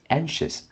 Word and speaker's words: anxious: So this one is anxious. So here is shiz.